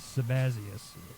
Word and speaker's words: Sabazius: Now, Mithraic mysteries, and then the Thracian, Phrygian, that's spelled Thracian, and then Phrygian is Phrygian, and then Sabazius is Sabazius, Sabazius, and then Cybele, which is Cybele.